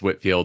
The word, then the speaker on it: Whitefield: M it's mcgeever um it's Whitfield and we know um he actually in like one of his letters just mentioned it in passing to somebody about how to pronounce it so we we we